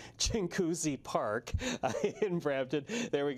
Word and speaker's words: Chinguacousy: Okay, I was a local reporter in Toronto, and I always get this name wrong. Chinguacousy Park in Brampton.